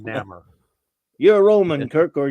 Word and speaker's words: Namor: Roman backwards. Yep. Yeah. Maybe. Yeah. Even at 8 years old, I was like, this is just Roman backward. That's why it works though. That's why I always pronounce it. That's why I always pronounce it Namor.